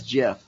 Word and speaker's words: GIF: it you're downloading the Giff um I gotta make sure I say it right I wasn't gonna pick yeah the guy who created the file format says jiff yeah well you know he's wrong not every creator is